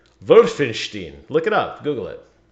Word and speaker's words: Wolfenstein: Wolfenstein is... That's how you say it. Wolfenstein.